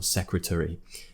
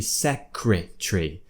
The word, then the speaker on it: secretary: this word secretary or secretary and they did now they would say that you pronounce it set crit tree so instead of being a schwa sound secre tree they're saying it should be secretary secretary secretary crook or